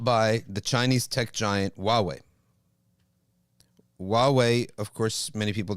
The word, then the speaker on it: Huawei: The correct pronunciation is Huawei.